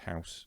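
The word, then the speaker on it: huis: if the word house that's pronounced house in um dutch or flemish is spelled h-u-i-s so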